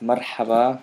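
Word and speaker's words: مرحبا: This is the ha, marha. And then this normal H.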